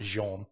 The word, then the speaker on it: Jean: john lanfray you know it's like one of those french names it really says gene right it's pronounced jean well so basically what